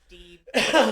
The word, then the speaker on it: Deeb: I believe it's pronounced Deeb. I say Deb a lot just because that's how it's written. It looks to me, but Deeb.